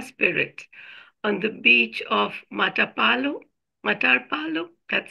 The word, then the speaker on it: Matapalo: Through her initialization with the Puma spirit on the beach of Matapalo, that's how it's pronounced? Yes, Matapalo.